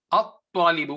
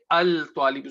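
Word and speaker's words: الطالب: We say at-tajiru, ar-rajulu, ash-shamsu, at-talibu. We don't say al-talibu. So lam is not being pronounced in the sun letters and it is being pronounced for moon letters.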